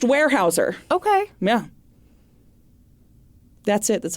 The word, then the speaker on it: Weyerhaeuser: I pronounced his name wire Houser the whole time in my head because it is spelled w ye e r h a e u s e r yeah but it is pronounced warehouser okay yeah that's it